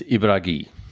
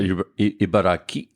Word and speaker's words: Ibaraki: I mean, it's spelt with a K, but It's spelled with a K, pronounced with a G.